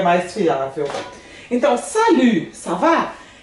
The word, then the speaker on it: salut: Lembrando que esse U aqui, né? Que a gente vai pronunciar ele com o som de U, que é a boquinha bem pequenininha assim, falando I. U, né? Salut. Aí na fonética, como é que eu vou escrever isso aqui? Salut. Né? Esse U com boquinha de I. E observa que o T aqui, eu não pronunciei ele. Perceberam? Não pronunciei. Ele é mudo.